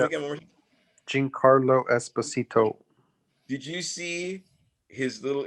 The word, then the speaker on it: Giancarlo Esposito: I'm getting his name wrong. Who? You got it. Giancarlo Esposito. Giancarlo? Mhm. Say his name again one more time. Giancarlo Esposito.